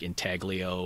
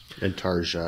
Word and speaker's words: Intarsia: It's like intaglio or intaglio mm-hmm. or however you want to say it. Intarsia, I believe it's pronounced.